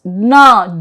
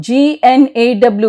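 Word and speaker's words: gnaw: So, the rule 1 says G is silent if the word begins with GN. So, there are only a few words, gna, G-N-A-W, gna, and gnome, gnome, na and gnome.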